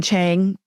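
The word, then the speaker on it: Qing: I'm trying to think of son Chang who is a Dowist priest s an is spelled Q I N G he's a Dowist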